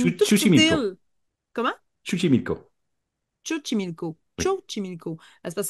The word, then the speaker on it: Xochimilco: Donc, c'est situé au sud de Mexico dans les rivières, les canaux de Xochimilco. C'est une toute petite Chuchimilco. île. Comment? Chuchimilco.